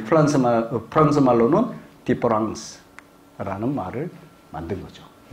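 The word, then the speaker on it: différance: 자, 발음의 차이가 있나요, 없나요? 없지요. 그럼에도 이게 두 개가 같은 건가요, 다른 건가요? 다른 거죠. 이런 말은 원래 프랑스 말에 없어요. 만든 거예요. 요거 E를 A로 만들었어요. 장난친 거죠. 근데 발음은 같아.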